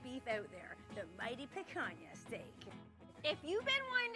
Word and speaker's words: picanha: First of all, picanha is pronounced picanha. As much as it's funny to say picanha, that ain't right, so be sure to properly pronounce it.